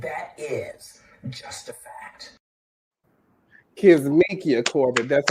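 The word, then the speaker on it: Kizzmekia Corbett: africanamerican woman and that is just a fact K mikia Corin that's how you say her name and she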